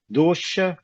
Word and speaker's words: dosha: gente tem que ver como pronuncia dosa em sânscrito. tá dizendo que é falha, vício, defeito, né? Falha, o vício. É. E pronuncia dosha, né? Da última aqui que eu olhei, ele está falando que dosha é chiado, né? Dosha. Ah, ok. Eu acho que é dosha.